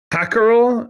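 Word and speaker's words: hákarl: was uh I was I believe it's pronounced uh hackerel it's h a k a r well uh the a has like a little symbol on the top of it the first one and that is a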